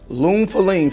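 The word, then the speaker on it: Lune Féline: Lune Feline from the house of Atelier des Sores is how you pronounce it.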